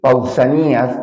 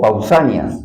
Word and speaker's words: Pausanias: Ahora vamos a hablar de alguien que es pausanías o pausanias, ya es que a veces cambian, unos pronuncian, la mayor parte pronuncia pausáneas.